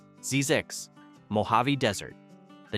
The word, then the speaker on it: Zzyzx: Place 8, Zzyzx, Mojave Desert. The name alone is enough to make you stop. Zzyzx, pronounced Zyzix, sits at the end of a road in